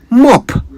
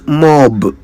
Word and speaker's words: mop: you say either here is a word I keep hearing people mispronounce mop m o mop a simple enough word I would have thought yet it would Amaze you just how often people say it wrong it is not mob it's mop m o not